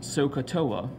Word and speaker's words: SOHCAHTOA: you say this we say this one is pronounced sohcahtoa but in my opinion when I say that